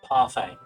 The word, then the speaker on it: parfait: I want to know how it's pronounced. Alright, hold on. Define... Parfait.